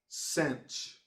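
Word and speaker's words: sinh: you can also say instead of hyperbolic sign you can say cinch and kosh rhymes with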